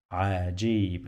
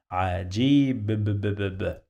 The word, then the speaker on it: عجيب: So we have Jim. Jim has the sound of J. G. The sound of I. G. G. Long vowel. Yeah. So another E here. G. The sound of B. Okay. I'm not crazy, guys. I'm just trying to help you. Okay. Ajib. And this is the way that I help the people. Ajib.